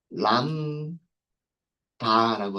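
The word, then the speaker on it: lambda: 파이썬번 그리고 람 다라고 하도록 하겠습니다. 조금 작아서 잘 안 보이실 수도 있으실 텐데 제가 여기 람다라고 썼어요. B가 있는데 B는 발음이 안 되는 무음이에요. 무음이고요. 그래서 람다 읽을 때는 람다라고 읽습니다.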